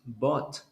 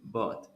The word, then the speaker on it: bought: Then the pronunciation of buy in the past is bought. You don't pronounce like th at the end because it's not th, it is ht. So the last sound is t, bought.